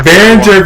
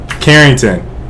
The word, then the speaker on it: Carrington: Behringer was my Behringer Baron. Okay, listen. Here, I'm spelling this in the chat. This is how you spell my brother's name. Carrington. That's how you pronounce it.